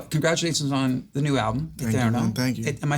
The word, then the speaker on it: Eterno: First of all, congratulations on the new album, Eterno.